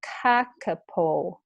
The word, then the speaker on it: kakapo: new word here and the uppercase letters means i put just a little bit of stress on the first syllable so it's not kakapol it's kakapo parrot so